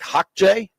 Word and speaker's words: Xhekaj: I think that's pronounced like Hawkjay.